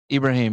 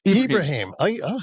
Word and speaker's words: Ibrahim: a Abra how do you say Ibrahim Abrahim Ibrahim yeah Ibrahim unique name I can say he's probably the